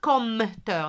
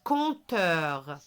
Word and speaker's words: compteur: Je ne dis pas compteur, non. Un compteur. Très bien. Je vois toujours la lettre M, mais je ne la prononce pas.